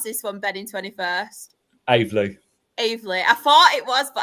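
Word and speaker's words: Aveley: And then in relegation, how do we pronounce this one, Ben, in 21st? Avely.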